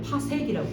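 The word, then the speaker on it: 파섹: 읽을 때는 PC라고 돼 있는데요. 파색이라고 읽어요.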